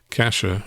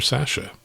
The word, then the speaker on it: Cassia: And he notes that the name of the county, which I mispronounced, is pronounced either Cassia or Sasha.